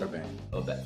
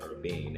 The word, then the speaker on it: Urbane: future of Urbane, or how do you pronounce it? Urbane. I think I'm saying it right? Yes.